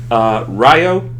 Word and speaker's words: Ryo: as Kyle Klace Hesk, along with Ryo. Am I saying that right? Finally, for once, someone does.